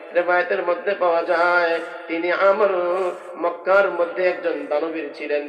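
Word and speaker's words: عمرو: না, আসল নাম হলো আমর, আইন মিম র ওয়াও। রয়ের পরে যদি ওয়াও আসে তা আমর শব্দ উচ্চারণ করতে হয়, আর যদি ওয়াও না থাকে ওমর বলতে হয়।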